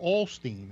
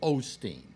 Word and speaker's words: Osteen: one twenty eight one seven yeah well Joel Olsteen is 128 that's definitive proof now Alex yes yeah it's Joel Osteen whatever but no pronouncing things correctly quit sounding